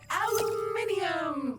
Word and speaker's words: aluminium: aluminum or aluminum as Americans pronounce it incorrectly, but that doesn't make it any less useful.